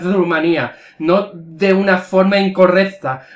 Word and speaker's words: Rumanía: No lo sé, a lo mejor en el país de este chico se dice Rumania, pero en España se dice Rumanía. En español se dice Rumanía, Rumania es en inglés, ¿eh?